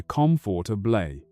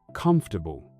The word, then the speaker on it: comfortable: If you learn the word comfortable by reading it, your brain expects to hear comfortable. But the native speaker says, comfortable.